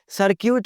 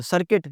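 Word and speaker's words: circuit: सर्क्यूट नहीं होता, सर्किट, ये जो बिजली के सर्किट्स होते हैं।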